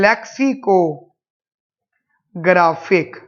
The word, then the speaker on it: lexicographic: Guys ध्यान सुनना, उस प्रेफरेंस का नाम है लेक्सिकोग्राफिक। उस प्रेफरेंस का नाम है गाइस लेक्सिकोग्राफिक। रिपीट कर रहा हूं गाइस, उसका नाम है लेक्सिकोग्राफिक। थोड़ी बड़ी स्पेलिंग है, LEXICOGRAPHIC, लेक्सिकोग्राफिक, समझना गाइस।